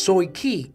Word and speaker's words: Tai Ky: It is pronounced Soi Ki in Cantonese.